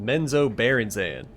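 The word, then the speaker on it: Menzoberranzan: from men panen under dark excuse me it's pronounced menzo barzan how did you come to be here lady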